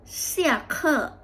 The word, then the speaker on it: 下课: ตี้ อู่ แล้ว ตี้ อู่ ตี้ อู่ ชื่อ เสี่ เค่อ เสี่ เ่อ แปล ว่า เลิก เรียน เก่ง มาก ค่ะ เมื่อ